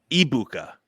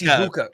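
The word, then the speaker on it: Egbuka: And it's Ibuka. The G is silent. It's Ibuka. Emeka Buka.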